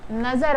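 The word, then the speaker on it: نظر: इसलिए आपको प्रोनाउंसिएशन पे ज़ोर देना है कि ये नज़र वर्ड है, जो नज़र हम आँखों के लिए इस्तेमाल करते हैं।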